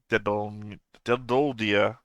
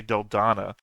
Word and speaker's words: Dedoldia: I think I've been saying it wrong all through last time because I keep wanting to say Deldana, and that's not right. There's no N in there.